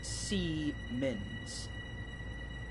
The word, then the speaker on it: Siemens: london where passengers consider our number siemens is pronounced as c men's yeah no i just like pronouncing it as simmons it it's easier to say oh well holiday